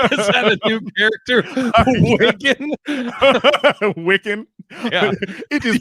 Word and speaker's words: Wikan: Wikan? Yeah. It is pronounced Wikan.